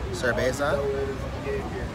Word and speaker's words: cerveza: Sipping on a cerveza. I know the V is pronounced as the B.